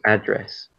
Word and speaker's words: address: Or address, they would say address.